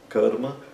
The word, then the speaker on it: karma: Nessas palavras aparece apenas o curto, que é a primeira vogal do sânscrito.